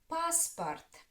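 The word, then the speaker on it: паспорт: Passport. The first syllable is stressed.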